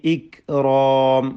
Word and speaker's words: الإكرام: വൽ ഇക്റാം, വൽ ഇക്റാം, ഇക്റാം എന്ന ശബ്ദം ചലിപ്പിക്കരുത്. ഇക്റാം എന്ന് തീരെ കാഫിനെ കേൾപ്പിക്കാതെ അതിൻ്റെ ഹംസ് പോക്കിക്കൊണ്ട് ഉച്ചരിക്കരുത്, ഹംസ് വേണം.